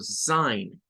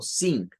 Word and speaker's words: sign: Entonces, esto lo vamos a decir como sign. It's a sign. No vayamos a decir algo como sing, es sign. Y nótese que la G no interviene, o sea, solo hace el sonido.